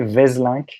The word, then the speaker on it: Waeselynck: Yeah, we say Vaeselynck in France. Waeselynck. But it's not like, it's probably not how you would pronounce it in the original language. Yeah. Vaeselynck, But anyway, I so... think. If it was Dutch, it would be Waeselynck.